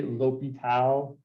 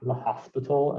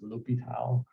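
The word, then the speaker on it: L'Hôpital: you all to say l'hopital not the hospital as some people like to say it is a french name it is pronounced l'hopital so um l'hopital's rule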